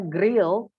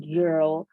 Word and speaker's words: girl: Ingat, ini kalau masih ada di antara kalian yang membacanya grill, ini karena saya sering sekali menemukan siswa atau mahasiswa yang membaca ini dengan grill ya, no grill atau girl atau bunyi-bunyi yang seperti itu. Ini harusnya berbunyi girl, okay?